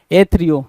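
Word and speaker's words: aethrio: एच आर आई ओ एथ्रियो या एथ्रियो है ना एथ्रायो एथ्रायो या एथ्रियो दोनों बोल सकते हो इसको स्कोप इंस्ट्रूमेंट एक ऐसा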